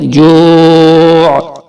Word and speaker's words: جوع: الذی اطعمہم من جوع. یہاں واو ساکن سے پہلے پیش ہے جوع, ہم اور من پہ گنا, جو کو تھوڑا سا کھینچ کر, اور آخر میں عین کی آواز نکالیں گے جوع.